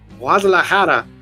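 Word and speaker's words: Guadalajara: had connections with the wadahara cartel to fund sorry when I go into Spanish mode I have to pronounce it properly wadahara to cartel to fund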